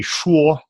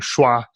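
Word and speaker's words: 说: Like, you can listen and repeat, but like you said, it was supposed to be shuo, but you were accidentally saying shua, and that is a totally different sound.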